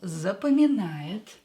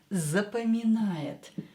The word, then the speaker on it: запоминает: When O is not stressed, pronounce it as A.